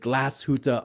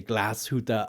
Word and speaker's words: Glashütte: And I know some of you don't like when I say Glashütte Original, aber ich spreche ein bisschen Deutsch. Ich versuche die richtige Aussprache zu verwenden, wenn ich über eine deutsche Marke spreche.